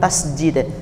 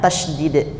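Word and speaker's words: tasydid: ini namanya tasdid Nah ada yang bilang tasjid yang benar tasdid ya pakai Dal tasdid kalau tasjid kan beda nanti artinya ini bacanya tasdid angka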